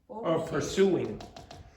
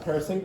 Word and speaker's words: pursuing: Pursuing. Okay, so this is not pursing. How do you pronounce this? Pursuing.